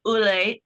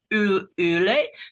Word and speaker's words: Olle: And I say Ulle, Ule, because he was trying to teach me yesterday how to pronounce it.